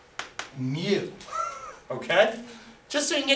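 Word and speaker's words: mu: the symbol is the Greek letter Mew it's pronounced Mew okay just so you can get used to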